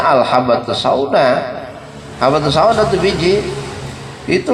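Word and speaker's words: الحبة السوداء: Dia baca akhirnya al-hayatus sauda apa syifaun min kulli da'in. Padahal itu hadis bacanya al-habbatus sauda.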